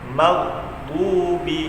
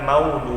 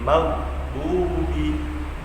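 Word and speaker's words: مغضوب: Yang benar itu maghdubi, bukan maudu ya, bukan maudu, tapi maghdubi. Kemudian setelah huruf gha-nya itu harus ada huruf dha.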